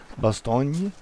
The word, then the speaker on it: Bastogne: town in the Arden it's the French name actually it's in French it's pronounced Bastogne and and Dutch the